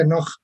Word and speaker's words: Enoch: El libro de Hanoch, se pronuncia Enoch también, ¿verdad? Pero en hebreo es Hanoch, Enoch o Enoch, también fue discriminado, aprovechando, ¿no?